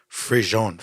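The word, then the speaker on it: frisson: Frisian is a French word pronounced frison or Frison. frison, right?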